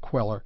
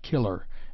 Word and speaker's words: queller: the life of Jack the Giant queller not killer as usually erroneously written and pronounced see my essay on